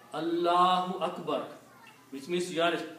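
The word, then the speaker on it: الله أكبر: But if it is in the middle, you have to pronounce. Allahu Akbar. You have to say, you cannot say Allah Akbar. You have to make a full pronunciation. Allahu Akbar.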